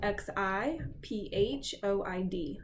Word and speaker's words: xiphoid: extension here is called the xiphoid process xiphoid is spelled x i ph o ID xiphoid really the only other structure to pick